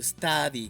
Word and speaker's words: study: Observa que puse entre paréntesis to study con a, pero no es precisamente el sonido de una a el que debes hacer. Pon tu boca como si fueras a decir la a y termina diciendo una o y verás que sale un sonido entre los dos, entre a y o.